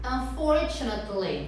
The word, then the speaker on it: unfortunately: Então é unfortunately, né? Como se fosse unfortunately. Unfortunately. Unfortunately. O stress, que a gente fala a sílaba forte, é no for.